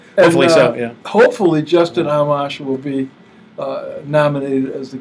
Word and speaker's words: Amash: Now, so Ahmed, how do you pronounce it? Amash.